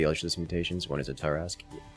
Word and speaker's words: Torask: The names of the Ultralisk mutations, one is a Torask. Torask, yes. Spelled with an O instead of an A.